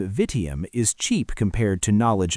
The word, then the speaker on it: vitium: But, as I think, you understand that this 3-syllable name that sounds when we say vitium, vice, is better than what